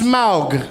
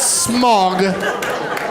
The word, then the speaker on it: Smaug: god dammit I'm sorry it's pronounced Smaug not smog it's not the thing that hovers over this entire city in the cartoon version